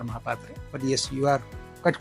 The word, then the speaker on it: Mohapatra: I would be saying the exact pronunciation would be mahapatra but yes you are